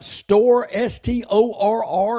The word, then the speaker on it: Storr: He was talking about, I don't know if you know this player, Barry, Storr, Storr is how his name is pronounced.